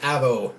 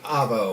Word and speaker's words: Avo: There is a temple of Avo, not avocado, but Avo. Aww.